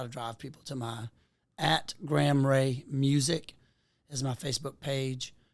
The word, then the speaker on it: Gram Rea: So it's Graham Ray, but it's GRAM because I was named after Graham Parsons. So it's like the unit of weight, and Ray is spelled REA.